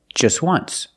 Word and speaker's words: just once: But you say there's an O in once. That's a vowel. But phonetically, it's not a vowel. Phonetically, it makes the sound w, w, like a W. W, w, once. So phonetically, the T is between consonants. So it's silent.